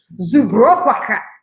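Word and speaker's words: Żubrówka: Can somebody tell me how to pronounce it? Zubrowka.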